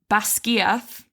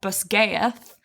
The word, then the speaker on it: Basgiath: And the same with, it's in theory, Basgiath, not Basgaeth, which the War College.